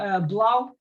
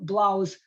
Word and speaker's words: 3LAU: So again, Royale is owned by an electronic music producer and NFT entrepreneur called Blau. Is how you spell it, Blau.